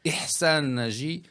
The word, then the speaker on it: Ihsan Najy: On le prononce Ihsan Nadji, OK. mais il y a l'accent arabe là-dedans qui n'est pas évident.